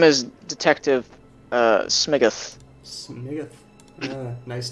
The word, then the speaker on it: Smiguth: Detective Smiggoth. Smiggoth? Yeah. Smiggoth. SMIGUTH. Yeah. 1G. Smiggoth. Okay. And then Barnaby. Could also be pronounced Smiggoth.